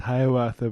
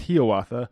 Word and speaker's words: Hiawatha: A lot of people might think it's pronounced Hiawatha, but it's pronounced Hiawatha.